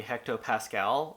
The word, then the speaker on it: hectopascal: but this commenter thought I should just say hectopascal out loud every single time. So I looked it up, the pronunciation, and here it is really quickly.